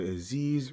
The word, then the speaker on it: Aziz: It's your boy Aziz, rhymes with disease.